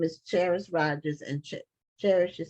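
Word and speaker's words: Kheris: The author's name is Cherish Rogers, but it's spelled K-H-E-R-I-S.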